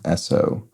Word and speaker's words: Esso: I think this is Esso which oops is a descendant brand of Standard Oil named for the phonetic pronunciation of its initials so University and official